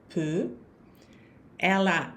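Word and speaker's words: peux: Il um PE né o x das duas primeiras não se pronuncia e o t da terceira não se pronuncia também não então a pronunciar acaba sendo a mesma pe tu pe el Il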